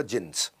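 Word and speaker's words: Djinns: उसमें बेसमेंट में क्लब होता था, जिन्स, डी जिन्स लिखता था, डी साइलेंट होता था, जिन्स।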